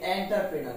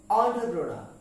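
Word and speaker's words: entrepreneur: এন ই ইউ আর আমরা এটাকে বলি এন্টারপ্রেনার কি বলি এন্টারপ্রেনার কিন্তু এর উচ্চারণ হবে অন্ট্রোপ্রোনাউন কি হবে অন্ট্রপ্রেনার অন্ট্রপ্রেনার আরেকবার খেয়াল করার চেষ্টা করি এন্টারপ্রেনার এন্টারপ্রেনার না এন্টারপ্রেনার যার অর্থ হচ্ছে উদ্যোক্তা ওকে পরবর্তী শব্দটি আমরা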